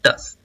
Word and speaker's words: terse: तो आज का जो हमारा फर्स्ट वर्ड है, सबसे फर्स्ट वर्ड ये है टस। इसमें आर का जो प्रोनाउंसिएशन होता है वो साइलेंस आता है, इसलिए इसको बोलते हैं टस।